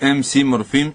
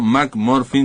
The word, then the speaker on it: MC Morfín: Pronúnciese MC Morfín y no Mac Morfin, como dicen algunos, porque se escribe igual, pero esto es MC porque es un rapero.